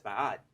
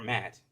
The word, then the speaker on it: Ma'at: ancient kemetic Egyptian goddess Ma'at, um, or Mat, as most people would say.